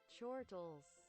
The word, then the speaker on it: chortles: Is it chortles, quartles? I gotta find out, actually. I think I've alternated between the two by two pronunciations. I want to find out the proper one. It's not one that's used very often, I don't think. Just in general life. Chortles. Oh, it is chortles.